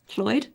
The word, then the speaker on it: Lloyd: So when there's in Welsh, if there's two L's, it's ll, not walla. It's ll. Wait, hold on. Is how? It's ll. Cl- So say your name's Lloyd. Lloyd? That's a Welsh name. It would be pronounced Floyd.